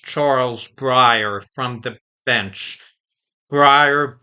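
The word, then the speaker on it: Breyer: Brier, B re, it's probably pronounced the same as Briar's ice cream.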